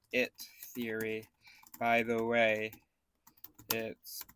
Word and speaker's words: IT: Theory by the way it's pronounced uh it like the word with a short I it's meant to emphasize